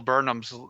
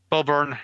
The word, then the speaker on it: Burnham: like yeah I've been wanting to watch Bill Burnham's new insight or whatever on Netflix and stuff and I'm a little behind but I love the music soundtrack for it that he does who burn oh Burnham I said it wrong the first